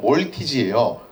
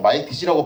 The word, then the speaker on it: 몰티즈: 그래서 이름이 원래 뭐였냐면 몰티즈예요. 몰티즈인데 요거를 이제 미국 사람들이 종종 말티즈라고 발음을 하게 되면서 우리나라에도 그냥 말티즈란 발음이 넘어오게 되었다는 거죠.